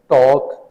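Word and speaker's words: talk: टॉक, इसमें L silent है।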